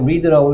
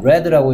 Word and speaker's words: read: read의 과거형은 read죠. 쓰는 건 똑같이 쓰는데요. read라고 읽으면 현재, read라고 읽으면 과거. 난 책 읽었어.